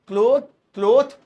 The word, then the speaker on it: cloth: वाला word use करेंगे, क्लोथ या क्लोथ्स, ये वाला। इनकी प्रोनाउंसिएशन में भी हल्का फर्क है, ये क्लोथ है क्लोथ, ये क्लॉथ है क्लॉथ, वो क्लोथ्स है क्लोथ्स, ऐसे मतलब थोड़ा शायद